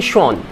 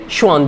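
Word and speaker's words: Schwann: एक थे Sheldon and दूसरा थे श्वान, शेल्डन एंड श्वान, ध्यान से समझिएगा, शेल्डन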